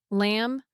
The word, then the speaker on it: lamb: Words ending in MB almost always have silent B. Lamb, thumb, climb.